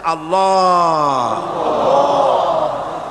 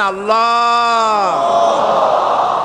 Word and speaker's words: আল্লাহ: কেউ বলে না আল্লাহ আল্লাহ পাকের উচ্চারণটা হচ্ছে আল্লাহ পাকের নামের উচ্চারণ হচ্ছে আল্লাহ মুখটা একটু গোল হয়ে যাবে বলেন আল্লাহ আল্লাহ সুবহানাল্লাহ পৃথিবীতে বিভিন্ন